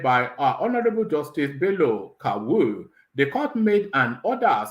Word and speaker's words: Kawu: granted by Justice by honorable justice k-a-w-u so that's why I'm pronouncing that kawu so out how else